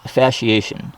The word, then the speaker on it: fasciation: But what this is called plant fasciation. It's spelled Fasciation. The fasciation, the SC, is pronounced as you would an SH, kind of like Old English, actually, if you've ever looked or studied that.